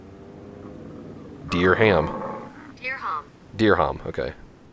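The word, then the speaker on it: dirham: I want to look up the pronunciation dear pronunciation dear ham dear ham dear ham okay dear ham dear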